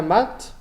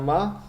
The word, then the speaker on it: mat: Être noir ou avoir, puse le teint mat ou le teint mat, depende cómo lo quieran pronunciar. Avoir le teint mat, bueno, mejor sin la T para mí, pero depende.